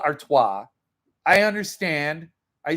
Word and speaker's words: Artois: not an all-brevity thing he says our toes our toes i know it's stella artois i understand i say